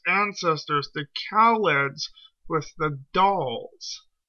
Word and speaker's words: Dal: It's not mentioned here, but the Thals have actually confused the Daleks' ancestors, the Kaleds, with the Dahls. D-A-L, not T-H, like the Thals. Dahls.